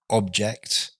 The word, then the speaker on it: object: But as a verb, to object, notice the difference in word stress there. We have object, a thing, and to object. So the stress falls on the second syllable.